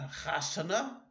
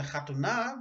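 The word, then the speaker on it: חתונה: A chasana means a wedding, not a chatuna, but a chasana.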